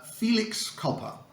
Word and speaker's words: felix culpa: I think this is the easiest one to pronounce so far uh Felix copper the explanation is a bit tricky the literal